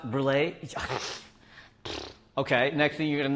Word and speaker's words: brûlée: It's pronounced brulee.